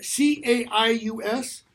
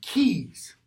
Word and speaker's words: Caius: Kent disguises keys that CAI u.s. in British English that's pronounced keys in all blanton its